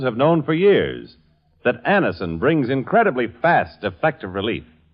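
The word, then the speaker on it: Anacin: what many thousands have known for years, that Anison brings incredibly fast, effective relief.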